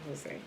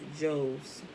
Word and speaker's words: Jose: rabbi ishmael ben jose no that's not jose it's just j o s e rabbi ishmael who was the son of joe's okay because he was